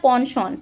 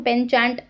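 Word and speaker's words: penchant: Next हमारा आता है पॉनशॉन। पॉनशॉन देखें, अगर आपने ये प्रोनाउंसिएशन नहीं पढ़ी होगी तो आप इसको पेनचैंट जो है वो उसको प्रोनाउंस करेंगे, लेकिन यही होता है हमारा पॉनशॉन, मतलब समथिंग दैट यू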